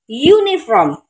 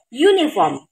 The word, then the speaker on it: uniform: Uniform. Ini aja hurufnya vokal, tapi dibacanya U. U diawali huruf Y. Uniform.